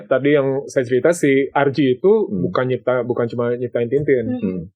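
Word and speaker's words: Hergé: Jadi kalau di inisialnya itu seharusnya GR. Oh iya benar. Oh dibalik ya? Iya, akhirnya dia balik. Tapi pronunciation-nya jadi RG. Iya, pronunciasi secara Prancis ya kalau nggak salah.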